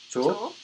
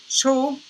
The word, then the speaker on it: 조: So like that, 조. And it's 조. I know it could sound like 초, but 초 is higher. 초, 조.